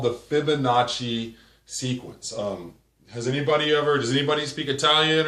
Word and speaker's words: Fibonacci: So the word Fibonacci definitely sounds like it's an Italian word.